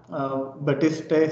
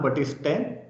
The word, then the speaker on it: Baptiste: Okay, next there is another person, John Baptiste Say. Okay, here P is silent. John Baptiste Say.